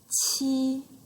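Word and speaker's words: 七: E, qi, and ba. Can you feel it? They pronounce the same way. The tone is high and flat.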